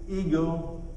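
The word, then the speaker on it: ἐγώ: did you know that that word i that he uses there is pronounced in the greek ego imagine that yet not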